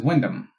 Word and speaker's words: Wyndham: You know, my last name is Wyndham, but it's spelled like wind and ham.